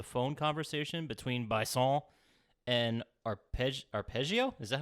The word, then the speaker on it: Arpeggio: And then I have written down here at some point, Sly overhears a phone conversation between Bison and Arpeggio. Is that how it's pronounced? Arpeggio.